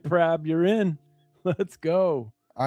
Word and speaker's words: Prab: No, it's Prab. P-R-A-B. Yeah, 7755. Yep. All right. That's my choice. All right, Prab, you're in.